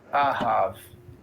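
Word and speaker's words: אהב: So we have the open syllable ah and the closed syllable have, right? Ahav. Next word likewise is an open and then a closed syllable.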